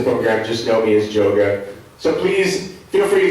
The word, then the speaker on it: Joga: gave me the nickname Joga. That's spelled J-O-G-A. It's like the word yoga, but put a J at the front.